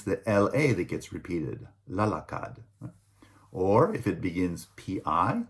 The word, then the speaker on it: lalakad: In the future tense, so will run, will walk, will choose, right, are pronounced tatakbu for will run, lalakad for will walk, and pipili for will choose.